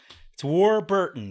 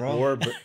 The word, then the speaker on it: Warburton: It's Warburton, though. That's how you pronounce it. Warburton. Warburton. Right. It's a tough name to pronounce. Just break it up into two words. War and Burton, like Richard Burton.